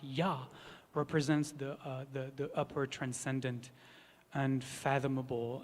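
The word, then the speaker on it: יה: And Yud Hey, the two letters that are pronounced Yah, represents the upper transcendent,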